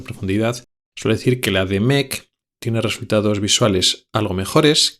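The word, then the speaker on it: DMEK: y luego también está otra que se llama Demec, que se escribe d m E k.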